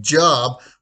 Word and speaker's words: Job: So hence we get J-O or Job, and it's we pronounce like it's a it in it's not like job like we pronounce it in a verb or a noun.